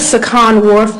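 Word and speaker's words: Sukhan Warf: My name is Sakan Warf. That's spelled S U K H A N.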